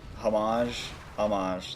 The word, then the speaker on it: homage: Yes, I think it's an interesting, I guess, homage, that H is silent, homage to Dark Souls 1, but it's handled differently.